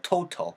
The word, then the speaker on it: total: 그래서 to보단 toe. 그 다음에 tal이 아니고 tall이에요. tall. total이에요. total. Total.